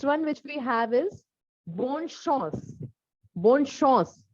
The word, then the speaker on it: bonne chance: Next one which we have is bonne chance. Bonne chance. Chance, not chance. Chance is an English word. This is chance in French.